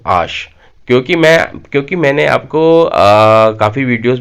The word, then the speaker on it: H: देखिए, इंग्लिश में जो लेटर एच होता है उसे फ्रेंच में बोला जाता है आश। आश। देखिए, मैं इसे हाश नहीं बोल रहा, इसे मैं बोल रहा हूँ आश।